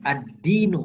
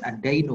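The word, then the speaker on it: الدين: Kalau ada harokat di bawah tasydid, ini contohnya nih, ad-dinu bukan ad-dainu bacanya.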